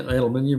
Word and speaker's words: aluminium: So yeah, Chris Freeman, aluminum aluminium, aluminum. Um, yeah, aluminium. We we add a whole syllable extra syllable to u that word.